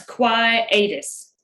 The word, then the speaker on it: quietus: of weird to pronounce quietus quietus yes quietus quiet a speller and it might help him it's spelled just like it sounds q-u-i-e-t-u-s quietus why it